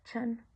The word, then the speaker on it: Chan: En chino se pronuncia chan.